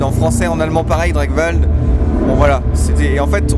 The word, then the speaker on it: Drakwald: choisi le nom, c'est que Dragval ça se prononce quasiment dans toutes les langues facilement. Dragwald en anglais, Dragwald en français, en allemand pareil, Dragwald.